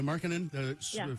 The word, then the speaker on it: Markkanen: Yeah, Markkanen.